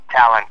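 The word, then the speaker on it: Tallinn: in uh how do you say talin Estonia Talon Talon Estonia Talon Estonia small country uh you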